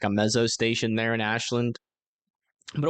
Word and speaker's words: Ames: But that's not going to be until we get to Amos. I think that's how you say it. Ames? Is it Ames or Amos? Ames? Is that right? I don't think that's right. Let me double check. No, Adair. Sorry. Ames. Gotcha.